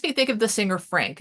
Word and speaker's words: Phranc: think of the singer Frank and it's spelled uh spelled p h r an c um who was once